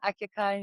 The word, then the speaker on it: Akyaka: Well, I hope your next destination will be my hometown, Akyaka in Turkey.